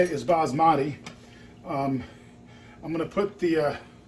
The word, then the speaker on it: basmati: Okay, the next step here is to finish off this this basmati rice, and yeah, that's how you say it is basmati.